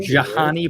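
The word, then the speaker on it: Jhonny: You don't remember Johnny Peralta? Yeah, as some people would pronounce it, because the H is right after the J.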